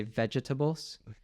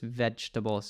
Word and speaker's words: vegetables: you're done exactly vegetables I think too it's different in British and American English I think they might pronounce both at ease so they might say vegetables but in American English we emit the second e so it's just vegetables it's even harder you